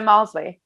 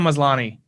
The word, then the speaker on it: Maslany: uh orphan black she's there she it's tatiana mosley yes tatiana maslany yeah yeah excuse me i butchered her last name it's okay uh she